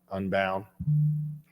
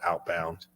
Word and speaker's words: Unbound: um he did um Unbound I said it right I I always mess that up I call it outbound he just looks at